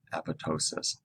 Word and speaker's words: apoptosis: from the body so apo is the prefix ptosis the silent p is the root word so apoptosis program cell death here's